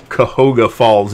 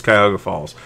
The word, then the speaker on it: Cuyahoga Falls: She pronounces it for some music-y reason, Cahoga Falls. Nobody calls it Cahoga Falls. It's Cuyahoga Falls.